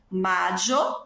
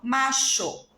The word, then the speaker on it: mayo: Eu posso falar maio, mayo, macho. Há essas 3 maneiras possíveis. A pronúncia da Argentina é sempre essa que tem som de X.